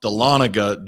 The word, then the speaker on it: Dahlonega: I believe it's pronounced Dahlonega, Georgia.